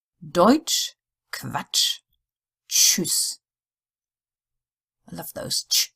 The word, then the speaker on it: Tschüss: TSCH is like the TCH in English, as in which. Deutsch, Quatsch, Tschüss.